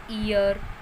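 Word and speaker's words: heir: एच कुछ few words हैं जो एच से शुरू होते हैं और एच उनमें साइलेंट होता है। कुछ एक वर्ड है ये जो एच से शुरू होते हैं और वहाँ पर एच साइलेंट होता है। For example ईयर, honest, honour, our. तो यहाँ पर एच से शुरू है ये सभी वर्ड, बट यहाँ पर एच जो है वो साइलेंट है।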